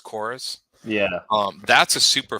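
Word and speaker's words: Chorvs: I'm playing one called chorus c-h-o-r-v-s but I think it's pronounced chorus yeah um that's a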